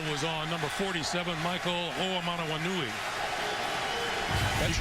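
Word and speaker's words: Hoomanawanui: I believe the call was on number 47, Michael Oamanawanui.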